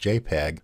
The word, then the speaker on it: JPG: Then there's the JPG, pronounced JPEG.